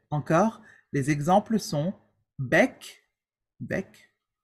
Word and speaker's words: bec: Except with the letters, with the consonants, C, R, F, and L. Okay? With these consonants, we do pronounce them. For example, bec, bar, bref, et bol.